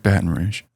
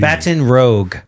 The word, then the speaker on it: Baton Rouge: Now, is it Baton Rouge or Rouge? I've always heard Baton Rouge. Rouge. Cuz I've heard it like Bruge with a hard G. Baton Rogue.